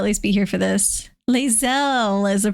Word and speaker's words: Lae'zel: Lae'zel is the pronunciation.